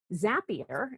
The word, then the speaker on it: Zapier: Um Zapier, it rhymes with happier is an all remote team that works on a software platform that helps integrate other kinds of software together.